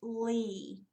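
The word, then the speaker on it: lea: the poems have seasons now le a is pronounced Li it is a grassland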